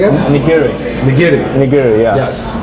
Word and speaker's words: nigiri: It's like in Japanese it's called nigiri. How you say again? Nigiri.